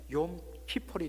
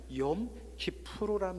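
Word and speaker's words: Yom Kippur: 그래서 이것을 영어식으로 발음하면 욤 키폴이 되죠. 원래는 욤 키프루란 말이 맞는데 영어로 발음하기를 욤 키폴 하죠.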